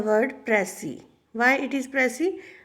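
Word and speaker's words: précis: Why it is Pressy? Because S is silent here. Precis, it is a French word. That is why it is Pressy.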